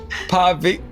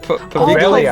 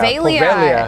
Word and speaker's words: Poveglia: Investigating the infamous Paviglia Island? Poveglia. Poveglia. Pavilia, thank She you. is silent.